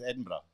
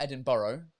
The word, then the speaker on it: Edinburgh: It's Edinburgh. Edinburgh. No, Edinburgh. Edinburgh. There we go. All right. It's not Edinburgh.